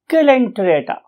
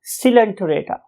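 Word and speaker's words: Coelenterata: Few people से इट एज सिलेंटरेटा, सिलेंटीराटा और टिरेटा, and others may utter it as calenterata. However, most of the scientists or teachers love to say it as silenterata, right?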